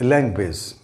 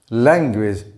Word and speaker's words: language: the first word is language language notice that i pronounce the first syllable a bit louder and longer than the following syllable this extra emphasis or